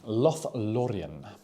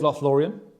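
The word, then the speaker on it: Lothlórien: Ooh, Lothlorien. Roll your R's, James.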